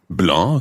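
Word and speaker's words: blancs: Feminine plural becomes Blanche so again it sounds the same as the singular but it's got an extra s on the end I sometimes think when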